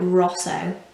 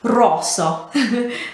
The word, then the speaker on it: rosso: but yeah you will always roll the r and just generally try and italianize the way that you say this word so i'm not saying it i'm not saying it like rosso like you would in english it has to be like rosso make it sound authentic